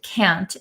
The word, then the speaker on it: can't: and can't so uh a lot of Americans don't pronounce the t's at the ends of words so can can c a an can and can't we often say can't can't can can't um usually it's really understandable